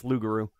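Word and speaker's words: loup-garou: we say loop the p uh no it's lugaru i learned that researching this too uh you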